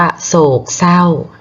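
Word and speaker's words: โศกเศร้า: อิอิ ก็ มี ค่ะ ซอย เสือ กับ ศาสดา ตัด ออก ตัด รอ เรือ ออก ก็ จะ เป็น ว่า คำ ว่า โศก เศร้า นะ คะ โศก เศร้า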